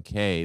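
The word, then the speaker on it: Keay: or whatever wait wait my last name has always been K but it's spelled k-e-a-y right well that's yeah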